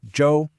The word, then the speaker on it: 舟: Following that, we have Zhou.